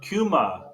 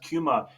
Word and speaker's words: Kyma: Yeah, so the piece is pronounced Kuma. It's spelled Kyma, but it's pronounced Kuma. It's an old Greek word that I kind of came across after I wrote the piece.